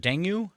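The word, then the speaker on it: dengue: it's D fever or is it denu denu fever dangi D dangi that's how you say it thank you Val uh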